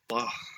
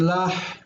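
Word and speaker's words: לָהּ: Vayetain lah. Okay, you are right in this. The hey is pronounced, but rather than lach, it's more breathy lah.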